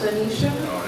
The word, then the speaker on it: Benicia: Well, my name is Benicia, pronounced Benicia. It means blessed one in Latin, and if you speak Spanish or Italian, it's also pronounced Benicia.